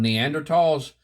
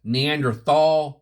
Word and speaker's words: Neanderthal: Uh, this topic here, guys, is on Neanderls. And, um, sometimes you'll hear it referred to as Neanderthal. Neanderthal. It's actually pronounced Neanderl.